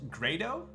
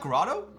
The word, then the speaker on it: Grado: my from my reach owner is a close pronounced grado oh it's great wait really it's not grotto seriously yo what up krieger let's go bud is it really grado no what damn so